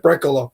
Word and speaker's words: Brekalo: Brachello, if I pronounced that right. Yeah, Josip Brekalo.